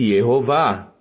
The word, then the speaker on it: Yehová: Portanto, o nome de Deus, as 4 letras do tetragrama, ele deve ser lido, evidentemente, Yehová.